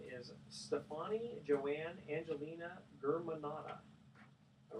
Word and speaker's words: Germanotta: It's pronounced Germanotta.